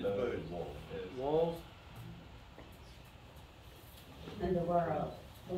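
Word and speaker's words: Bose: B-O-S-E, bows. Yeah, you say bows.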